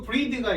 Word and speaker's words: breathe: 자, breath가 있고 breathe가 있어요. e가 붙으면은 발음이 달라져. breathe.